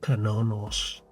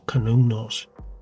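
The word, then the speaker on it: Cernunnos: And this is the famous image of Kanonos, or Kanunos, however you wish to pronounce it.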